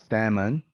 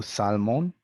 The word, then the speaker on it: salmon: could shoot chalk palm salmon and calm no kane no salmon no palm with a silent l some common spellings in